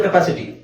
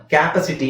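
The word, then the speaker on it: capacity: ತರ ಇಲ್ಲದೆ ಇರೋದ್ರಿಂದ ನಾವು ಕ್ಪಾಸಿಟಿ ಕಪಾಸಿಟಿ ಕ್ಯಾಪಾಸಿಟಿ ಅಂತ ಹೇಳ್ತಾರೆ ತುಂಬಾ ಜನ ಕ್ಯಾಪಾಸಿಟಿ ಓಕೆ ಸೋ ಇದು ಆಕ್ಚುಲಿ ಪ್ರೊನನ್ಸಿಯೇಷನ್ ಬಂದು ಕಪಾಸಿಟಿ ಕಪಾಸಿಟಿ ಓಕೆ ಯಾಕೆಂದ್ರೆ ಈ ಸೆಕೆಂಡ್ ಸಿಲಬಲ್ ಮೇಲೆ ಸ್ಟ್ರೆಸ್ ಇದೆ ಓಕೆ ನೆಕ್ಸ್ಟ್ ಇದು ಸೇಮ್ ಸೇಮ್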